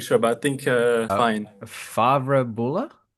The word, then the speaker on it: Favre-Bulle: Favre-Bulle? It's gonna be fine. Yeah, it's fine. You can say Favre-Bulle or Favre-Bulle.